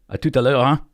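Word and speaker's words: hein: word I learned about the way they say huh like a uh but when you say it in French it's h e i n huh I love that okay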